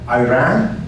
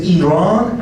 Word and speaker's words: Iran: If they say Iraq and Iran, just turn off the TV and run as fast as. Even politicians, they cannot pronounce these two countries correctly. It is Iran and Iraq, not Iran and Iraq.